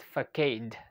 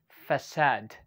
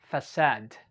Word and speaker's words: facade: i usually say it for kade okay i don't know if you also say this word okay okay but actually it is pronounced as facade yeah you heard it right okay facade one more time facade hi hello good